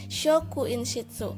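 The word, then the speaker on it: 職員室: Nah, ini adalah ruang guru, tulisnya adalah shi yo kecil kuinshitsu dan dibacanya adalah shokuinshitsu. Karena yo-nya kecil digabungkan jadi sho ya, shokuinshitsu.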